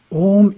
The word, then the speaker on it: Om: for the repetition of om as a mantra to be effective the mantra must be pronounced correctly the first syllable is a pronounced as the english word ah but prolonged ah the second syllable is